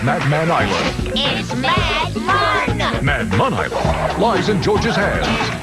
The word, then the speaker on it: Madman Island: does sound like fun escape from madman island pronounced mad mon man hires george to find his friends you